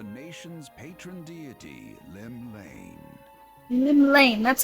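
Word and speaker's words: Llymlaen: Lim Lane, that's how you pronounce that.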